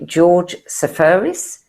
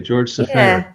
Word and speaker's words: Seferis: And I don't know if you want to pronounce this the Greek way or the English way. I've heard it both ways. I would say George Safaris.